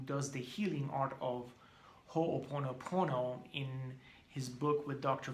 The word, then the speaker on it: Ho'oponopono: Hugh Len, the Hawaiian teacher who does the healing art of Ho'oponopono, in his book with Dr.